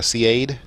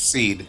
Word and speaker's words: SEAD: it's a basic what how do you pronounce it seed or Cade yeah it's seed seed surface enemy a uh